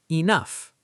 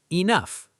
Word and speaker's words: enough: Enough. Say it. Enough. The GH sounds like F.